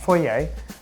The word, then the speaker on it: foyer: or we've actually eaten dinner here in the foyer just the two of us is somewhere different fourier that's how you say it okay i didn't